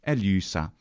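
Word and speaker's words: ἔλυσα: The high pitch is on the e, and the lu is on elusa, elusa, elusa. Many languages have that kind of prosody, that kind of pitch contour, and the penultimate syllable, the lu in this case, would in fact be the stressed one.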